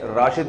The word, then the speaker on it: راشد: ہمارے قومی ہیرو تھے، ان کے والد نے ان کا نام راشد رکھا تھا، رشید نہیں رکھا تھا۔ تو زبان کے اختلاف سے نا تھوڑا سا تلفظ میں فرق آ جاتا ہے۔ ایک ان کا مورخ